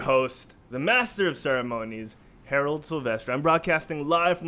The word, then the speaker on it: Herald: I'm your host, the master of ceremonies, Herald Silvestre. I'm broadcasting live from the Quit Stalling Podcast Studio. And yes, that is how it's spelled. Herald, you did not hear wrong. It's H-E-R-A-L-D, not Harold.